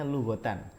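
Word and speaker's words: لغةً: Asia mu Hwa lughotan ini bacanya lughotan Alim saku gitu jadi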